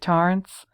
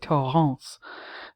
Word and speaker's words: Torrance: And I pronounce Torrance either one of two ways. Either the way Dick Halloran pronounces it, Torrance, or the way my French professor pronounced it, Torrance.